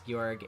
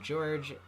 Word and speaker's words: Gorg: that one Zelda boss gorg is pronounced with a hard G rather than George is how it's pronounced I came up with